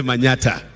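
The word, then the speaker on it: Manyatta: Manyata constituency is supposed to be Manhattan, but we don't pronounce Manhattan, we say Manyata.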